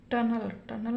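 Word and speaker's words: tunnel: से अधिक लेटर हैं तो इस ई का उच्चारण क्या होगा, अ होगा। तो इसको हम क्या पढ़ेंगे, टनल में सुरंग।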